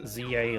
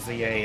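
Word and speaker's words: Z-A: playing, um, Pokemon Legends ZA lately. Um, although cuz I'm, I'm British, the we actually pronounce it Zed, not not Z. But apparently canonically, it's still pronounced ZA regardless.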